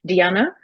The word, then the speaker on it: Dijana: My name is Diana. It's actually silent J, so it's pronounced Ah, as Diana.